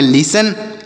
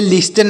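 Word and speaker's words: listen: से ना जैसे पढ़ेंगे लिसन और लिसन मतलब होता है सुनना लिसन मतलब सुनना एल आई एस टी ई एन लिसन मतलब हो जाएगा सुनना इसे इसे लिस्टन नहीं पढ़ेंगे लिसन पढ़ा जाएगा लिसन मतलब सुनना एल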